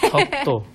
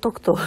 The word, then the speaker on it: 독도: 덕도라고 쓰셨죠? 위에는 덕도. 그리고 저는, 네. 밑에는? 그것도 독도. 독도. 저는 이 두 가지 오가 네. 너무 헷갈려요. 그렇죠. 어 발음이 어려워 하시는 네. 분들이 많이 계시더라고요. 어 발음을. 네.